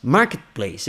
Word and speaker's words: Marketplace: falar isso fica Marketplace Market Place eu junto T com P como é que junta eu não sou Tutti Eu não falo Marketplace nem Market nada eu falo Market Place São três sílabas Market Place em português